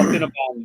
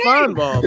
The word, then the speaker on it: Paul Feinbaum: You said Finnebom. Yeah, no, it's Feinbaum.